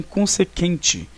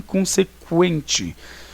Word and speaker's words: consequente: Para marcar a pronúncia do U, ou seja, dizer que este U deve ser pronunciado. Significava isso, ó, para as pessoas não então pronunciarem linguiça, e sim linguiça. Não pronunciarem consequente, e sim consequente.